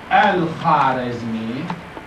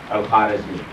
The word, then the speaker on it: Al-Khwarizmi: Because Al-Khwarizmi this one is not pronounced like Khoja, Khaja.